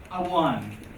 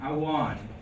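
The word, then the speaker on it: amháin: So if you search for Gaelga, Awan. So that's a W sound, Awan.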